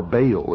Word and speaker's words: Baal: For this is the only ancient portion, the beginning of the ancient worship of Baal, or Baal as some pronounce it.